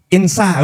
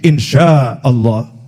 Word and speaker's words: insya Allah: Nah, tulisannya INSHA, tapi dia bacanya itu Insa. Oh, keliru nih itu ya. Oh, itu pakai shin, insya Allah.